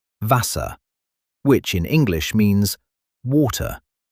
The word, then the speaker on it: Wasser: Wasser, which in English means water. The W sounds like an English V, and the German V